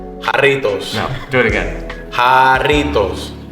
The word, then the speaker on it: Jarritos: It's Jarritos. Jarritos. I'm gonna Not say going it back, with your voice. Ready? On 3. Jarritos.